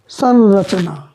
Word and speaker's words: संरचना: तो वहाँ से उच्चारित संरचना। उसका इस तरह से उच्चारण करते हैं कि इसको न की तरह उच्चारण हो जाता है उसका।